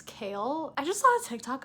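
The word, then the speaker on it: Chaol: And we've met Dorian, and his name is not Cole, it's Kale.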